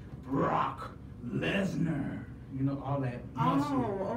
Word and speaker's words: Brock Lesnar: Oh, it's a C in there? Yeah. Oh, that's a C, girl. Let me tell you how to say it. You gotta say Brock Lesnar.